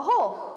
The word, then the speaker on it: hole: A hole. Hole. Good. Good. Okay. Good. We want to hear hole. We want to hear that l sound at the end.